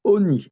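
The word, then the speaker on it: עָנִי: vous dire par expérience qu'on prononce Oni. Le Kamatz, il se prononce O, là.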